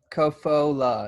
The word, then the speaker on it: Kofola: Kofola. Kofola. It's 3 syllables.